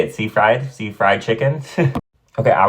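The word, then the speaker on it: Seyfried: Karen Amanda CED how do you say it sea fried sea Fried Chicken okay I was really young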